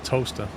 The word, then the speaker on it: Towcester: Towcester. It's like Towcester, and it's Wait, pronounced yeah, and it's Yeah. pronounced toaster. Toaster.